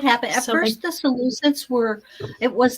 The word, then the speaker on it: Seleucid: then we have the Seleucids come in, and Seleucids, there we go. That's better. Seleucid. I'll try and remember that pronunciation.